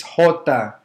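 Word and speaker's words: jota: the letter j is hota it's pronounced as in hen or house has the same h sound or house the letter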